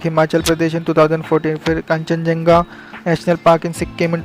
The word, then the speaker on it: Khangchendzonga: वाला पार्क सिक्किम का कांचनजंगा national park. Actually spelling जो अगर लिखना पड़े तो स्पेलिंग अलग है, प्रोनाउंसिएशन अलग है। इसके लिए इंग्लिश में स्पेलिंग ऐसी है KHANGCHENDZONGA।